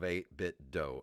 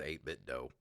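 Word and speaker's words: 8BitDo: games and i believe the dough in the name is pronounced like do d-o-e as in a martial arts school i think the name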